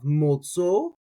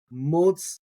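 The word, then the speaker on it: מוצאו: So a lot of people, right, they leave that aleph silent. So in that case, they have motzo. When I like to pronounce my aleph, so motzao.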